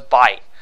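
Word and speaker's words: 八: eraser that's really bad so it's bite like you know I say bye when saying the whole thing out just say bye bye so no tape bite don't don't don't you know fully pronounce this word right here don't fully pronounce it so 8 no take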